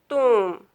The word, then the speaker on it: tomb: If our words end in B, MB, then B will be silent.